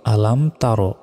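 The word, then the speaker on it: أَلَمْ تَرَ: তা র জবর র আলাম তার আমরা অনেকে ভুল উচ্চারণ করি বলি যে আলাম তারা এটা ভুল বলতে হবে আলাম তার কাফিয়া জবর কাইফা জবর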